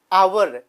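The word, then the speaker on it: hour: और इसी तरह से आवर स्टार्ट तो एच से होता है, एच ओ यू आर, लेकिन प्रोनाउंसिएट करते हैं आवर, तो इसलिए हम उसके आगे क्या लगाते हैं, एन लगाते हैं।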